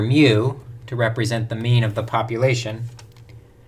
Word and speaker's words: mu: We pronounce the population parameter mu as mu, meaning the mean of the population.